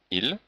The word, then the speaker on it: ils: Donc on remarque que le S n'est pas prononcé, ils.